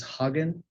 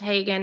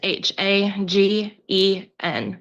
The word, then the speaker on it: Hagen: You do you say your last name is Hogan? No, sir. It's pronounced Hagen and it's misspelled in the document.